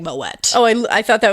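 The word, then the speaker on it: Moët: Mo it says surprisingly moette is pronounced with a hard T and not a silent t as is typical for most of the French language anguage you should pronounce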